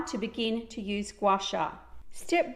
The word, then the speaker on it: Gua Sha: Gua Sha is pronounced Gua Sha.